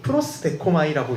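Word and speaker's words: προσδέχομαι: 사실 저 위에 작게 썼듯이 프로스데코마이라고 읽어요.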